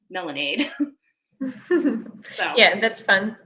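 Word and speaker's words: Melandeee: And it's called Melanade, kind of like lemonade, but Melanade.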